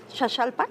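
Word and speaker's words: Xaxalpa: acá de San Jajalpa, Shashalpa que se pronuncia así, es para el poniente.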